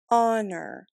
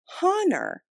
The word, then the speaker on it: honor: or is it silent honor honor the H in the word honor is silent if it wasn't silent it would sound like hanor but it doesn't does it does the